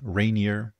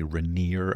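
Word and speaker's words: Rainier: We also have Amazon AWS project reineer or Reneer depending on how you pronounce it. I guess locals say Reneer other people say Reineer.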